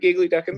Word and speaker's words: Giggly Dickens: Now, is it Giggly Duckins or is it Giggly Dickens? No, you said it right, Giggly Duckins.